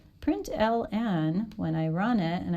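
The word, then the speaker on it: println: is put an ln some people pronounce that print line but it's print ln print ln when i run it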